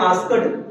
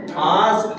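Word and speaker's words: asked: इसे क्या कहते हैं कई लोग कहते हैं आस्ड आस्ड लेकिन पूरी दुनिया गलत पढ़ती है इसे क्या पढ़ते हैं ना इसको पढ़ते हैं आस्ट इसको गुल कर लीजिएगा इसको आस्ड आस्ड नहीं के साइलेंट और डी को टी साउंड किया जाता है जैसे पिज्जा वाले में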